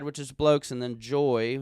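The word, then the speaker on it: Joi: And they have the men's side, which is Blokes, and then Joy, which is spelled J-O-I, is the female side.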